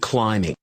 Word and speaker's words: climbing: listen to the word climbing notice that the B is silent make your own stack